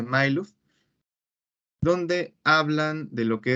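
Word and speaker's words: Majluf: Pero se pronuncia Mailuf, donde hablan de lo que es la estrategia.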